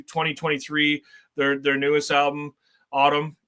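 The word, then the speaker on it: Atum: So, a really subtle nod to 2023, their their newest album, Autumn, that is spelled at Tom or Adam.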